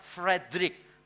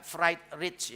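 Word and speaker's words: Friedrich: Bacanya Frederick bukan fried rich ya.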